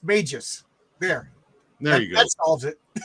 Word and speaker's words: Magus: And from the chat, it's pronounced Magus.